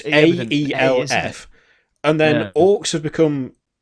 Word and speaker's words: Aelf: Elves have become Elf. So it's AELF.